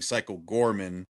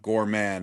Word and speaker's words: Goreman: about he remaking Psycho Gorman, not Goreman. No, Gorman. His name is Gore Man.